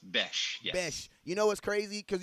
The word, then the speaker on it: Bech: see it's you know bch pronounced besh you know what's crazy because you know the